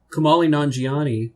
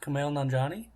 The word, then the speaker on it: Kumail Nanjiani: Kumali Nanjiani was on. How did you pronounce his name? Kumali Nanjiani? Kumail Nanjiani? Is that... Oh. Then I've been butchering that for a while.